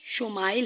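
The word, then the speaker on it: ישמעאל: سنا دی گئی۔ عبرانی زبان میں اسماعیل کا تلفظ شمائل ہے۔ شمائل کے معنی ہیں سن، اور عیل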